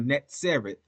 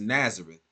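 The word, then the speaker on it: נצרת: So the village of Nazareth, or Netzereth, that's how you say it in Hebrew, Netzereth, but we know it as Nazareth, in North Israel, known in English as Nazareth, takes its name from the root word netzer.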